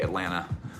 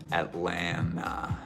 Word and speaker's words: Atlanta: real OG from the city you just say Atlanta and it's just at land no tea anyway so theory pants they're cool